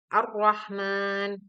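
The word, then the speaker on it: الرحمن: Lam diikuti huruf nun pelafalan bacaan alif lam syamsiah disebut juga Idgham Syamsiah Hal ini karena suara alif lam dimasukkan ke dalam salah satu huruf Syamsiah yang ada di hadapannya suara alif lam menjadi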